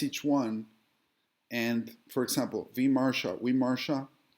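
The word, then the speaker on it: विमर्श: So what I do is I analyze each one, and for example, Vimarsha, it's remember the V is pronounced like a W.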